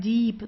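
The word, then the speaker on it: Dieb: thief so de deep as you see here I E that means that you have to stretch the eye okay so it's a long eye the Deep so you don't say dip or dip deep it's deep yeah okay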